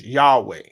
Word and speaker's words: Yahweh: seen that yhw um people pronounce that as Yahweh I am who I